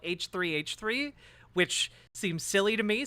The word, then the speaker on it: h3h3: and get me on he he which I've now been told is not how you pronounce the name of the the podcast you call it h3h3 which seems silly to